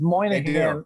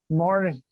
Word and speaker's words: Moynihan: my last name is moynihan and it's only people from boston and people from new york that know how to pronounce my name because everybody else is like morning but there's a ton